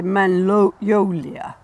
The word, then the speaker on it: magnolia: You see, magnolias are named after a French botanist called Pierre Magnol. And so they say magnolia. They don't say, the French wouldn't say magnolia, they'd say magnolia, because that's how they say it in French. I almost feel like we should bring up a French apply just to hear this. But we say magnolia.